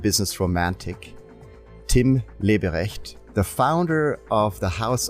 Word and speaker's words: Leberecht: And yeah, very nice, by the way, how you pronounce my name in a proper German, Leberecht way.